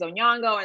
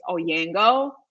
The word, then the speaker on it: Onyango: mispronounce my name um my last name is onyango and sometimes you know people say onyango um which you know what is fine i totally get a tomato tomato the one pronunciation that i can never get is oyango like that doesn't make any sense to me because do you pronounce grand canyon grand cayon yeah i never get